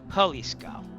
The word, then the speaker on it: Jalisco: Halisco. Halisco. That makes sense actually. Now Haliscoco. Haliscoco. All right. That makes total sense. Yeah. J's are pronounced like H's.